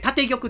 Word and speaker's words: 建玉: 曲ですねこれ読み方結構姉は分からない初心者の方もいらっしゃると思うんですけどあの立てる魂と書いて建玉と言いますねここだけちょっと